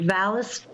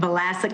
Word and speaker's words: Vlasic: Janet Valisk. Vlasic, I'm sorry, I wasn't sure how to pronounce it. Excuse me, I was still muted, present, and Vlasic like the pickles.